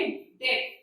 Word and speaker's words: debt: एक वर्ड लिखना है डेट, ठीक है, ये डेट होता है, यहाँ पर डी हमारा साइलेंट रहता है, साउंड जो आएगा हमारा वो डेट का साउंड आएगा, ठीक है।